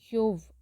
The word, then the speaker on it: Job: இங்கிலீஷில் இவர் ஜோப்னு சொல்லுவாங்க, எபிரேயத்தில் யோவ் அப்படின்னு ப்ரொனவுன்ஸ் பண்ணுறாங்க.